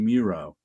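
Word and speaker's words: Mireault: guys are familiar with Bernie Muro m i r e a u l T rhymes with zero when you say it I didn't find that out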